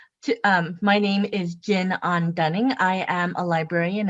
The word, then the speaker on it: Jin: And again, my name is Jin An-Dunning, pronounced like the alcohol, but I'm the non-alcoholic Jin.